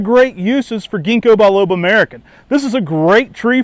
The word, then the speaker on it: Mariken: People often think it's pronounced like saying an American out there in your garden, but this is actually a Dutch introduction. It's pronounced Mariken, and it's an introduction by Piet Vergelt.